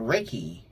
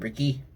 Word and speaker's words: Reiki: And we did a Reiki. Not Ricky. Ray.